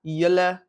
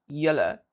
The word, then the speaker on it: julle: Right, so this goes for julle as well. We don't say julle as it's spelled. We say julle as in l-e. Julle, hulle, and not hulle.